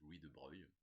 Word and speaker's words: Louis de Broglie: Oui, alors c'est écrit Louis de Broglie, mais c'est vrai que ça se prononce Louis de Broglie.